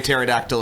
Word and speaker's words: pterodactyl: spelled the same way pterodactyl is with p at the beginning with the silent p oh my god um